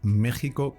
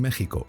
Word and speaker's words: México: se debe a que la letra X que aparece en la forma escrita de este y otros topónimos americanos, Oaxaca y Texas, conserva el valor que tenía en épocas antiguas del idioma, en las que representaba el fonema que hoy corresponde a la letra J.